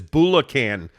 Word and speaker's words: Bulacan: Greg also clarified your pronunciation. He said it's Bulacan, Philippines, and that wasn't me, Jake.